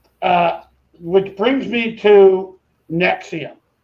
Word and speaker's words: NXIVM: yeah but um uh which brings me to nexium it's probably the most recent example of one